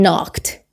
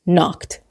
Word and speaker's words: knocked: But someone knocked. Obviously, the K in knocked is silent. So it's not knocked, it's knocked.